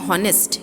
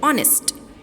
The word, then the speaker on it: honest: We are not saying honest, we are saying honest.